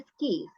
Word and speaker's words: skis: Ya, ini bacanya skis. Ini papan itu loh. Papan untuk main skinya itu ya. Namanya skis. Ski. Ya, skis. Ada S-nya ya. Karena dia kan lebih dari satu.